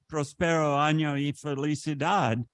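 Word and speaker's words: Próspero año y felicidad: Is it Prospero año y felicidad?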